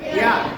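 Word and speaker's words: heir: এইচ থাকে, তবে এইচ এর উচ্চারণটা কি হবে? সাইলেন্ট হবে। এখানে আমরা দেখতে পাচ্ছি এইচ ই আই আর, এয়ার না, এয়ার। কি হবে? এয়ার, যেটা উত্তরাধিকার বোঝায়।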